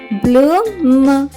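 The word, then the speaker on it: bloom: పిల్లలు, బిఎల్ యొక్క శబ్దం బాలా కాకుండా బ్ల అవుతుంది, కాబట్టి బిఎల్ఓఎం యొక్క ఉచ్చారణ అవుతుంది బ్లూమ్. బ్లూమ్.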